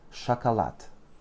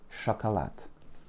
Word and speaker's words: шоколад: L'accent final tombe sur le L'accent tombe sur le A final, donc les deux premiers O se prononcent comme des petits A. Chocolat. Еще раз. Sh, O, K, O, L, A, D. Chocolat. Sh, O, K, O, L, A, D. Chocolat. N'oublie pas non plus de bien assourdir tes consonnes finales lorsqu'elles sont en finale. Donc c'est un D, mais on prononce bien T.